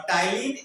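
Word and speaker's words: ptyalin: पाया जाता है और टाइलीन एंजाइम जो है कार्बोहाइड्रेट का पाचन करता है। यहां पर ध्यान दीजिएगा यह टी यहां पर पी साइलेंट है। टाइलीन में पी साइलेंट होता है।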